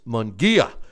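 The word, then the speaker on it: Munguía: I've been criticized about how I've been mispronouncing his name, and it's Munguia.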